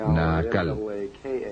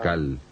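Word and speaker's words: Naacal: este ciclo se llamaba naal n a a c a L o nal depende de có lo quieran pronunciar y él era como dicen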